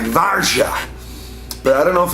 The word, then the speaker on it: Warsaw: pieces and my teeth does anyone know the right way to pronounce Warsaw because it's not Warsaw let's say something like varsha but I don't know